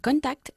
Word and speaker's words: contacted: I've contacted all the people. Contacted, porque acaba en T el verbo, y por eso pronunciamos la E final del pasado.